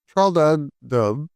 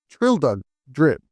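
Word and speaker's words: Traldragdubh: It contained a warrant for conducting me and my retina to Trald Dub or Trill Drip, for it is pronounced both ways as near as I can remember, by a party of 10 horses.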